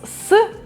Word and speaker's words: с: So it's S or so.